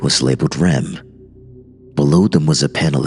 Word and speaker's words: REM: most profound artificial intelligences ADM and R M pronounced Adam and REM considering your placement at